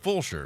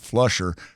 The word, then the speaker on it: Fulshear: It's spelled Fulshear. So make sure you get that spelled correctly. Sometimes people mix up the L and call it Flusher.